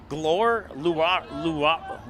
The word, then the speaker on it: Luara: Luara. I know Luara is how you say the last name.